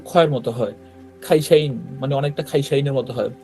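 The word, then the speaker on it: 会社員: সহজ শব্দ তারপর দেখেন কাইশা ইন এটার উচ্চারণ দেখেন এটার উচ্চারণও ক্ষয়ের মত হয় খাইশাইন মানে অনেকটা খাইসাইনের মত হয় পুরোপুরি খ না কিন্তু হ্যা জাস্ট হালকা ক খ এর মাঝামাঝি একটা সাউন্ড হয়তো খাইশাইন আর তো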